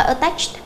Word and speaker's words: attached: Câu số 4 chúng ta sẽ đáp án A chúng ta đọc là attached. Attached đầu tiên chúng ta sẽ phát âm là ơ.